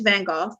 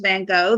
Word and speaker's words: Van Gogh: I'm sorry for you Americans listening the correct pronunciation is Bengal right um I know that the American version is Van Gogh that's actually incorrect but whatever um there are